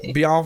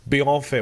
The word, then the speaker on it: Bienfait: Joining me today, the one, the only, Bienfait. Did I say it right this time? Bienfait. Well done. Bienfait.